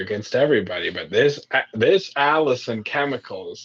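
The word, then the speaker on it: allicin: chemical in it called Allison oh wow how perfect for Alice but Allison but it's spelled differently it's like a l l i c n or something but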